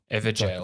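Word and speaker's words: Evergaol: GAO, but it's pronounced jail. Everjail.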